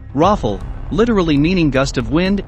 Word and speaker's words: Rafale: 2020 presentation super fighter the daso rafale french pronunciation raffle literally meaning gust of